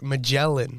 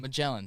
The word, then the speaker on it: Magellan: you how to say it before we started magellan magellan sorry it's oh my god by explorer ferdinand